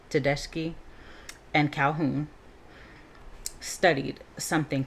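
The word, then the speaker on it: Tedeschi: Uh, to I'm going just spell it. T E D E S C H I. Teski and Calhoun studied something called post-traumatic growth.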